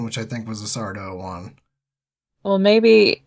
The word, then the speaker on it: Sardo: But, yeah, I believe this is the first time we meet Sardo, no Mr. Accent on the dough.